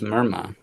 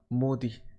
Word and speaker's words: Modi: mind mindu Modi no I thought it was merma no it's Modi Narendra Modi well I